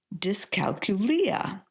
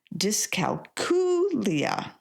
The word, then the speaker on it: dyscalculia: I got to be honest, I used to say discalcuia until I found out I was saying it wrong. Oops. It's actually pronounced discalia.